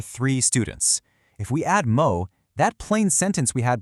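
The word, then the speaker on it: も: This is what you use when a number feels like a lot more than you thought it would be.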